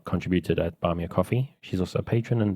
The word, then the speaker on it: Ko-fi: Or I think you're supposed to pronounce it coffee, but it's confusing having the two that are very similar.